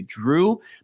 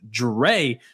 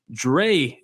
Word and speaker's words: Drey: name, for some reason, I want to say Drew, but I believe it's pronounced Drey.